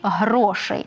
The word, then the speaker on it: грошей: багато грошей чудово але наголос на перший склад гроші і грошей так ми всі шукаємо